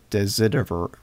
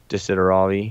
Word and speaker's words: Desideravi: Yeah, it's Not like Desiderio Desideriver, you know, whatever that one was, right? Desideravi.